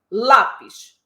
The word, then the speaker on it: lápis: posição da sílaba tônica lápis vocês concordam que a tônica é a penúltima sílaba eu não falo comprei um lápis Eu não falo um lápis eu falo lá então já sei que